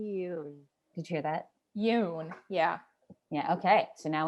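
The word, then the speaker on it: Yeun: so we don't so it says stephen yoon like if you were to say the word moon but with a y instead you you oh they'll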